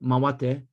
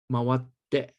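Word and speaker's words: 回って: Now, here you see the double T. It's very important. It's a little bit like the English word bookkeeping. The double K is not pronounced bookkeeping. The double consonant sound in Japanese means it's double the length. So it's not mawatte, it's mawatte. And here, mawatte, mawatte kudasai,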